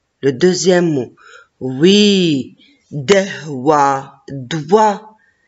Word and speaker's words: doigt: Oui, dewa, doigt. Et la lettre G et la lettre T à la fin, je ne les prononce pas.